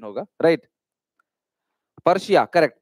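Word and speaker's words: Persia: सिलोन मतलब वो सिलोन, इस तरीके से उसका प्रोनाउंसिएशन होगा, राइट, पर्शिया, करेक्ट पर्शिया, ये ध्यान रखना आप, ठीक है।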